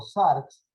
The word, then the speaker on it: sarx: Se escribe S-A-R-X, sarx.